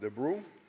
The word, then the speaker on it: de Brueys: Warren DeBrew, pronounced DeBrew, began his FBI career in August 1950 at the FBI Training Center in Quantico, Virginia.